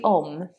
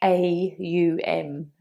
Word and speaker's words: Om: When we Om, rather than it being OM, it's more like AUM.